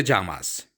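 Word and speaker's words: llamas: is your name कोमोते जामास what is your name कोमोते जामास नाम को जामा कहा जाता है डबल एल को जे की तरह प्रोनाउंस किया जाता है मैंने आपको पहले लेसंस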